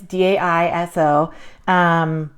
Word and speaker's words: Daiso: But I found this little book at I do not know exactly how you pronounce this, or I think it's Daiso. It's Daiso.